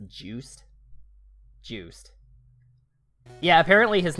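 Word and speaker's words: Juste: succeeded by simon's grandson justin belmont but it's pronounced juiced juiced yeah apparently his name in french means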